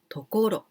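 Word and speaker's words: 所: like the second kanji only second kanji we pronounce tokoro so tokoro this is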